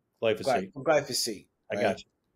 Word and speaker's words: glyphosate: to this my to this G to this glyphosphate glyphosate from glyphosate I got you my man I another syllable in that piece of glass um so